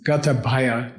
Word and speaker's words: Gatabhaya: It's Gatabhaya, G-A-T-A. B-H-A-Y-A.